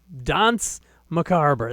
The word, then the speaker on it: Danse Macabre: I pronounced it wrong the first several times I said it. It's Danse Macabre. That is how Simon Le Bon sang it in the song.